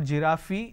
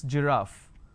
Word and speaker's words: giraffe: giraffe starting with G it's not girafi it's giraffe and we have a